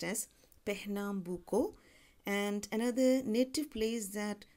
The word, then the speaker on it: Pernambuco: of the word but pronunciation tells me it's pronounced as Pernambuco and another native place that constantly finds reference